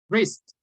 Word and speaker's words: wrist: Don't pronounce the W. Writing. Easy, okay? Wrist, okay?